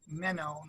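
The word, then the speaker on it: μένω: very good oh yeah like meno like men know so men know yeah kai of course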